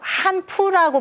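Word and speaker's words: 汉服: 보고 많은 분들이 굉장히 이제 분개를 했었는데 뭐 한 푸라고 발음을 하면서 한복의 원조가 이제 자기네들에서 비롯됐다라고 지금 이야기를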